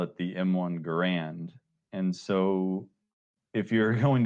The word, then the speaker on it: Garand: It's pronounced John Garand, of course, but you either fall into the